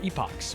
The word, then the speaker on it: epochs: Let's check our epochs or epics if you prefer to pronounce it that way.